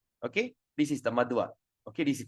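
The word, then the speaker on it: Madhva: madwa this is madwa you see the a with with the dash on top we pronounce madava and this is without without Dash we call madwa okay so madava Akia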